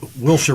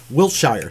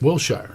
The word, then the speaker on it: Wilshire: like we know out here, it's Wilshire Boulevard, but being from back east, Wiltshire. Wilshire, yeah, exactly. Wilshire. How about the town Cerritos?